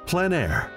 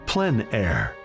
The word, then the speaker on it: plein air: of outdoor painting, called Plein Air. The French coined the term, which means open air or outdoors. The French pronounce it Plein Air. Others say Plein Air.